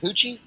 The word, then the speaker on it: Poochie: Poochie rhymes with Gucci. Is it Poochie?